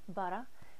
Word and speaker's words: Budda: And you have to say it like that, like butter, but with a southern accent. Budda, Budda.